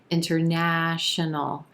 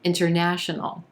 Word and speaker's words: international: ah as in black international national so again a very quick uh fourth and fifth syllable and our first and second syllable very quick as well international international now you'll also